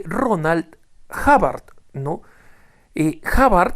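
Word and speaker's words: Hubbard: l Ronald havard no havard se escribe H de huevo u b b a r d havard no se pronuncia havard estoy ha haciendo ahora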